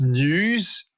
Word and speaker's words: N3W5: Yeah, so it's pronounced news, N3W5.